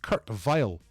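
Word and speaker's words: Kurt Weill: He's Kurt Vile, and he rhymes with Argyle. Kurt Vile, Argyle. 1 year out.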